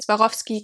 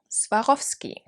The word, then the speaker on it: Swarovski: there you have it swarovski or swarovski i feel like it's harder to say with the american accent like the americanized version is harder to say than the german so swarovski practice it all right